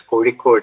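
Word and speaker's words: Kozhikode: for the opportunity yeah it's kodi code you know difficult to pronounce that's why i write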